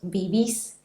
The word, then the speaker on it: vivís: vos comés y vos vivís. La sílaba final es siempre la sílaba que va a sonar más fuerte porque se trata siempre de palabras agudas.